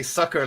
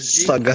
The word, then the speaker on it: Saga: sure you pronounce Saga well and don't say sucker like Gila just did. Saga.